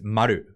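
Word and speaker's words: 丸: And now, and the way you pronounce that is maru.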